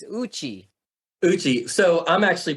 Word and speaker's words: Uchi: yuchi so Uchi is oh I I've been pronouncing it incorrect I say yuchi it's Uchi Uchi so I'm actually pronouncing it like an